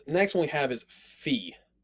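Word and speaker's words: phi: one we have is fee fee has the ph sound it takes both of those and makes the ph sound or the f sound like in phone next we have key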